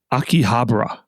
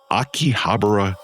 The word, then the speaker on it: Akihabara: rise and fall and maybe rise again of pronounce it for me again. Akihabra. Akihabara electric town.